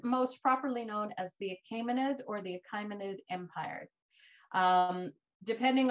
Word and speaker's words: Achaemenid: So this is most properly known as the Achaemenid or the Achaemenid Empire. Depending on where you're from, you may also pronounce it Achaemenid.